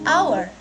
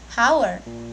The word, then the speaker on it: hour: menggunakan well Bukan tak ini dibaca our our bukan hours jadi karena pelafalannya menggunakan